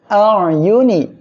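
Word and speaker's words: أَعْيُنِ: আলা হামজা আইন জবর আইন অক্ষরটা গলাটা চেপে আমরা উচ্চারণ করব আ ইয়া পেশ ইউ নুন জেরনি আইউনি হা মিম জবর হিম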